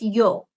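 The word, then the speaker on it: ㅛ: His name is Yo. Like, yo. Yo.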